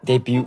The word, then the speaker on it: debut: Debut photo. T is silent, man. Debut.